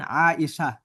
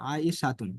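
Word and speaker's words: عائشة: তখন আমরা এভাবে বলি যে মান ফারিহা, শেষের গোলতাটা উচ্চারণ হয় না। যেরকম বলা হয় কি, মান আয়েশা।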